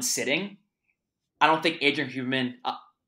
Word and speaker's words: Huberman: our conversation from Andrew Huberman. We go back and forth on Huberman or Huberman. It's almost like in Spanish, the H is silent.